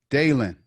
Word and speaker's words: Daelin: not what's your name daelin yeah like like Bailey Matt Oh Dale and I said dialing I'm my bad he